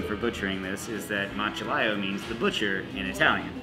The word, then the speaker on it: Macellaio: Yeah, so this is our MACELLAIO. MACELLAIO. A little history about the MACELLAIO. No one knows how to pronounce it.